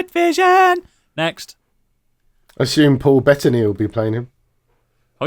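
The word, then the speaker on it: Bettany: own thing wi Vision next I assume Paul betany will be playing him oh you got his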